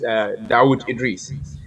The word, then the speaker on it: Dauda Idrisi: It's actually spelled Dauda Idrisi, but the pronunciation is Dawood Idris.